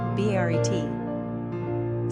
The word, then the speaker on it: Barrett: Pronunciation, Baret.